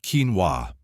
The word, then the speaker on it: quinoa: Pronounced quinoa, this tiny seed has earned its reputation as a nutritional powerhouse, and for good reason.